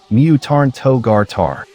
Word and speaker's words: Myuutanto-gata: sudden mutation, but its furigana indicates it is pronounced Mutarn Togar Tar, meaning mutant type.